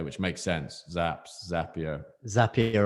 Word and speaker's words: Zapier: makes sense zaps zapier zapier rhymes with happy i remember that nice